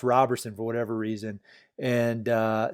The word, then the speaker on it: Roberson: does that happen I I want to put a t in my name because people look at it the way it looks like Roberson but it's pronounced Roberson for whatever reason and